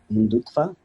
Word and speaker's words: Hindutva: With the new rise of nationalism and the Modi government being more and more on the Hindutva, I think, is that the right pronunciation?